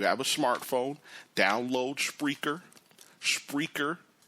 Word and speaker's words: Spreaker: a smartphone download spreer spreer is speaker with an aura and let me spell